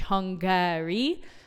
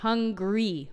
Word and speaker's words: Hungary: egy kis részlet, hogy a hangsúly az igenis az első szótagon van, de egy kis szótagot kihagyunk, tehát nem teljesen kiejtünk, hogy Hungary, hanem hogy hungry, olyan, mint az éhes.